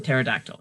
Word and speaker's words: pterodactyl: Why is the P in pronounced in helicopter but silent in pterodactyl?